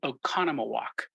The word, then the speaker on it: Oconomowoc: particular trip I was in Oconomowoc oh yeah and you pronounced it right yeah there right that's something that's a real challenge for people not from the area yeah um well I